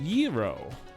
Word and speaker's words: gyro: about the the Greek taco essentially it's it's pronounced gyro which you would have zero to hero you